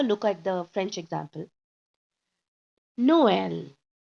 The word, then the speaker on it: Noël: Noël. So now you just split. It's no and L.